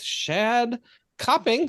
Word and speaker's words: Shadd Copping: with another exciting interview this week talking with shad coping did I say that right you actually are